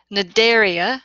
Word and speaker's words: Cnidaria: next phylum which is Cnidaria so the the C is silent say it just like if it wasn't there these are mostly marine